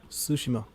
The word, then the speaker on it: Tsushima: Yeah, Tsushima.